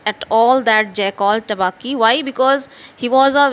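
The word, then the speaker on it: Tabaqui: And in this way we find the introduction of the jackal named Tabaki, uh, pronounced as Tabaki, which means the dish liquor.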